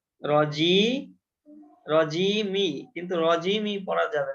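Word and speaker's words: رجيم: আমরা বাক্যের শেষ অংশ এই কারণে মিম ও সাকিন করে পড়তে হবে রজিম আমরা বানান করব মিম জের কিন্তু করবো হচ্ছে রজিম উচ্চারণে ম করবো উচ্চারণ হ্যাঁ তাহলে পুরাটা হলো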